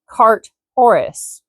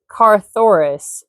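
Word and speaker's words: Carthoris: That is spelled C A R T H O R I S. I could pronounce it cartorus, but I think Carthurus is probably betterish.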